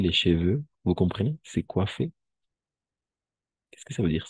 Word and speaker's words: coiffer: C'est coiffer. Qu'est-ce que ça veut dire, c'est coiffer? ¿Cortarse? Oui, c'est coiffer les cheveux. Coiffer. O-I siempre va a ser wa.